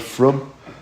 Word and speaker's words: frum: You know the word frum? Frum means religious, right? That's how they say it in Yiddish.